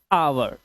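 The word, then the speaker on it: hour: अब इसे ह नहीं पढ़ेंगे। एच से ह होता है। इसे पढ़ेंगे आवर। क्योंकि ओ से पहले आया हुआ एच साइलेंट होता है।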